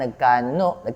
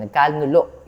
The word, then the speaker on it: nagkanulo: Judas Iscariot na siyang nagkanuno. Sorry, nagkanulo. Yun pala tamang pronunciation.